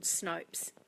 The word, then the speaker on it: Snopes: pronounce that right and that does rhyme with soaps so it's called Snopes if in Opa es and that is amazing